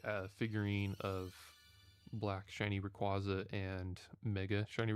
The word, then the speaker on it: Rayquaza: figurine of Black Shiny Rayquaza and Mega Shiny Rayquaza. I was like, man, I gotta get those statues. They look so good. And speaking of Rayquaza, or Rayquaza, if you prefer that pronunciation, um, Lego just came